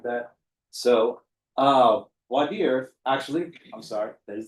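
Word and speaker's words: voir dire: So, uh, wer actually, I'm sorry, that is the proper French pronunciation down here in Texas. We call it bire because we got to put a little ye in our hall.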